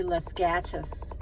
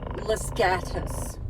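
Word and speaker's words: Los Gatos: where I was losgatos they say Las gatus they said they pronounce it latus latus yeah instead of losgatos but if you live there uh generally and you don't speak Spanish fluently you'll say Las gatus or something but that was kind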